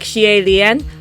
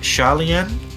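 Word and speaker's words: Xie Lian: way that they get you to try and pronounce in the back is like Shien, which is not right. So So um Shalen, Shalen, type his name in the stands.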